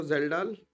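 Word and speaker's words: Kjeldahl: तो जेल्डाल, जेल्डाल की स्पेलिंग बहुत कठिन है यार, KZEHDALH, जेल्डा, ठीक है ना, समझ गया ना बात को?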